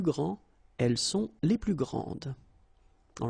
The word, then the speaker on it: grande: Okay, don't insist on the final E, but then pronounce this D, grande, and then exactly the same pronunciation, grande.